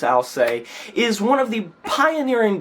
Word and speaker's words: Alcest: record entitled spiritual instinct so I'll say or else whichever way you want to pronounce it I believe it's al se is one of the